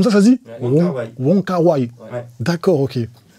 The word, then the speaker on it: Wong Kar-wai: J'ai jamais réussi à se prononcer ce nom. C'est exactement comme ça. Je c'est comme ça, ça se dit? Ouais. Wong Kar-wai.